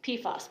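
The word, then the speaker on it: PFAS: floral like so and it's really just pfos p-f-a-s okay and it is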